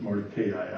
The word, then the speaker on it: Mordecai: at work, that Mordecai, I always pronounced it Mordecai, I'm sorry. I will continue with my pronunciation since it's of course correct.